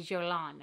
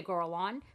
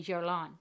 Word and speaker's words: Guerlain: It's a Guerlain. I used to say Guerlain, but I say Guerlain.